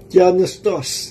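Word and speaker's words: θεόπνευστος: dito ay tios noos tingnan natin ang pronunciation nito yun pala ang pronunciation do tianos no Ang spelling tios tianos yun yung God bre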